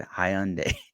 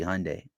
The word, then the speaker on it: Hyundai: at me because I I pronounced Hyundai wrong because I said Hyundai it's supposed to be Hyundai okay learn something new